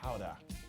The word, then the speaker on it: Gouda: The Gouda is good. By that I mean the Howda.